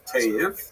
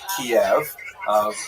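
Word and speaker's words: Kyiv: But they centered around the city of Cave. That's the Ukrainian pronunciation by the way that's favored today because of course Ukrainian is the dominant language in the country but it used to be called in English Kiev which is closer to the Russian pronunciation because Russia dominated much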